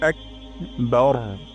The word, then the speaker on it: আকবার: বলি বার হবে না এখানে বা চিকন র মোটা বার বার এটা অবশ্য চেষ্টা করতে